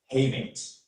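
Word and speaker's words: hamate: Your word is haymate. Hey mate. Hey mate. Hey mate. May I have an information please? Of course. Heymate is the only pronunciation I have here.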